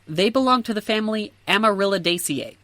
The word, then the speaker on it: Amaryllidaceae: So, they belong to the family Amaryllidaceae. All families end with the suffix ACEAE, which is pronounced ACA, so Amaryllidaceae.